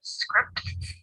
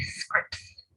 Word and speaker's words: scripts: Whenever T or D comes between two consonants at the end of a syllable, it gets elided, which means that it doesn't get pronounced. For example, instead of scripts, we say scripts.